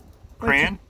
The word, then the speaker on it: crayon: Well, it was brand new, but it's a Crayon is one syllable. A crayon is two syllables.